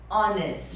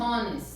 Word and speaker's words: honest: Já vi muita gente falando honest. É. Honor, que é honra também, eu já vi falando honor. Então esse H aqui, ele é mudo. Então é som de O, honest.